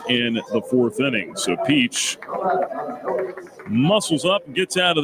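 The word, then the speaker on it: Piech: it's two and two it's not spelled like the peach you would eat p i e c h Ryan Peach two balls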